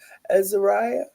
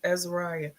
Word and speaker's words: Azariah: How did you say it, Kim? Azariah. Oh, it's Azariah. That's beautiful. Mm-hmm. Because I think I was saying it all wrong.